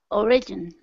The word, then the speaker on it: origin: Origin. Okay. The first. Origin. Origin. Even though this second has an I here, it's really pronounced like a schwa.